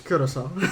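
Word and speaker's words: Curaçao: What is the proper pronunciation of Curacao? Is it Curacao or Curacao? It's Curacao.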